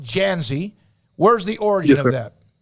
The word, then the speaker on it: Dzansi: the origin of your last name is d-z-a-n-s-i pronounced janzi where's the origin of